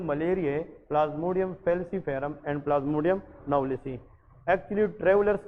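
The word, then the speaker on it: knowlesi: और आजकल एक नई किस्म आई है, इसको हम कहते हैं प्लाज्मोडियम, इसमें के साइलेंट है, दैट इज कॉल्ड प्लाज्मोडियम नवलिसी।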